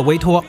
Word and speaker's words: VTOL: 其名字威托其实是 Vertical Takeoff and Landing 的缩写，VTOL 读作威托。